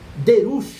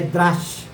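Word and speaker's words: דרש: uma palavra chamada eh eu vou falar ela de forma mais simples depois ela de uma forma mais clássica eh derus derus que vem da palavra deras mas eh a pronúncia clássica é é drash e aqui é drus Tá então essa palavra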